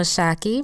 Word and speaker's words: Shaki: Yes, you know Shaki rhymes with hockey and it's short for Shakira like the singer, except I only sing to annoy my boys.